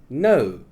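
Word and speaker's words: know: The first word we have is no. Oh, no. Oh, no. The K is silent here.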